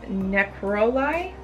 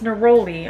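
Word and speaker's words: neroli: dead sea salt Epsom salt rose flower petals necrolai Citrus which is Citrus artium Rose uh Jasmine oh it's naroli I'm duh okay so rose flower petals naroli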